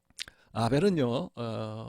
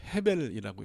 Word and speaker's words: 헤벨: 굉장히 중요하다라고 이렇게 생각합니다 아벨은 원래 헤벨이라고 읽어야 됩니다 헤벨 벨은 그 뭐 어떤